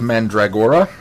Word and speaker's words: Mandragora: to do mask of mandragora which I still think I'm mispronouncing that one and um I think you're emphasizing or too much but you're got the pronunciation close okay mandrag mandrag mandragora mandora